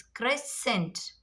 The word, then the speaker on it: crescent: So after S, as I told you, after S, crescent, crescent, crescent. Here C will become silent.